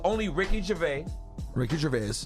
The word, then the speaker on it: Gervais: It's only Ricky Gervais. Ricky Gervais. It's not a silent S. You can pronounce it.